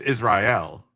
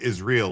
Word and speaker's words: Israel: around bikinis and they don't pronounce it right. It's it's Israel. Yeah. But they're pronouncing it is real.